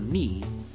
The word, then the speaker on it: knee: knuckle or knifed your knee why would there be so many k's well the k's are silent by mistake the original old english forms of these words were pronounced with k sounds canife canite kani but